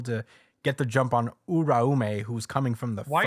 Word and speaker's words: Uraume: Uraume. Uraume. No, like roll the R. Uraume.